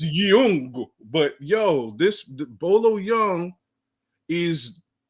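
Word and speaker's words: Yeung: Young, Y-E-U-N-G. I was about to say that's just like telling me it's a white man named Alonzo, man. I ain't trying to hear that bullshit. His name's not Jeff Young. and Young, the way it's spelled, that's the way they spell it. It's Young, but this Bolo Young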